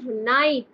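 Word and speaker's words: knight: বানানটা দেখো কে দিয়ে শুরু হয়েছে। ঠিক আছে? কে সাইলেন্ট। কে এখানে সাইলেন্ট।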